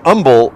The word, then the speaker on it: humble: the latonian pronunciation yep a new humble is is a silent h that got drilled into me years ago uh and uh bernie